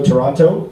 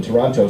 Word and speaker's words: Toronto: And it's also Pride Week in Toronto. So, it's going to be fun. It's going to be awesome down there. Pronounce it Toronto. Toronto. I'm from there. Oh, thank you. Yeah. It's not Toronto.